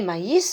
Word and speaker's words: maïs: elle est le hit ussel et je vais prononcer mayis et maïs et autres choses tous vous savez ce que